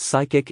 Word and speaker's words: psychic: prohibited no cods accepted the letter P in the word psychic is silent and used for entertainment